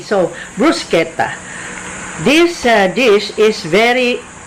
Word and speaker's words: bruschetta: am going to make brushetta brushetta they call it in English but in Italian the proper pronunciation is brusketa because CH is C it must be pronounced as K so brusketa this uh dish is